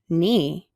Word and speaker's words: knee: What letter, though, is silent? We would never say knew or knee. So the K is silent, and we're going to circle that.